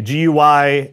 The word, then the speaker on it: GUI: interface or a gui if you want to pronounce that so a gui uh that allows us to interact with the